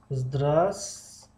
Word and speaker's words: здравствуй: здравствуй خب دوستان گرامی کلمه здравствуй در نوشتن здравствуй می شود اما در تلفظ здравствуй همین و در اینجا می پرد میگیم از بین می رود و رو نمیخونه خب فکر میکنم که نمایان است خب و را نمیخونیم здравствуй میخونیم здравствуй до